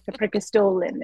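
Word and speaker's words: Preikestolen: and Hike the prol the prolin is how it's pronounced and so I went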